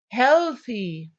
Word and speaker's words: healthy: Healthy. Healthy. You notice healthy. Short here. Didn't take the long sound.